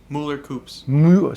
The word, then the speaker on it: Mueller-Kueps: Mueller-Kueps.